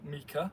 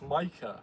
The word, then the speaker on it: Micah: "Oh, uh Hi Mika." And they're like, "No, it's Micah."